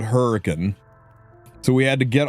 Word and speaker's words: Hurricane: We have the town of Hurricane because we can't say Hurricane. It's Hurricane. Um, you go about an hour east and you get to Versailles, Kentucky.